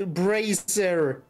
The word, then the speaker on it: Bracer: Bracer is supposed to be pronounced Bracer, not Brazier.